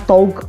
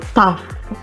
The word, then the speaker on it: tough: Bacanya bukan tog, tapi tough.